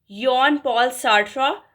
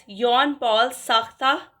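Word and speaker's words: Jean-Paul Sartre: Next जो है English में इसकी प्रोनंसिएशन जो है वो है यन पॉल सार्रा लेकिन in French it कैन be pronounced as यॉन पॉल साख्ता और अल्बर्ट कैमू इन्होंने इन्फ्लुएंस किया था लिटरेचर को।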